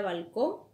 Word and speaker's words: balcón: Entonces, ¿cuál es la sílaba tónica en la siguiente palabra, balcón? Es en con.